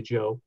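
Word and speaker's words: Zhou: the Joe Dynasty spells eh oh you were pronounced basically Joe that existed from 10:46 to 256 BC what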